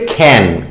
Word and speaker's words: ক্ষণ: বোঝা গেল তারপর দেখো ক্ষণের পূজা ক্ষণ মানে কি ক্ষণ মানে কিন্তু কিন্তু সময় ঠিক আছে তাহলে সময়ের পুজো এই ক্ষণের আঞ্চলিক উচ্চারণ হচ্ছে খ্যান খ্যানের পূজো অঞ্চল বিশেষে